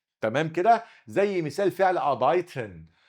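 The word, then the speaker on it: arbeiten: زي مثال فعل ابايتن. ابايتن الار هنا مش هتتقطع عشان وراه ساكن.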